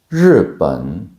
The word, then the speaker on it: 日本: I will show the word, pronounce it, and you pronounce after me. 人, 人. Very good. 日本, 日本.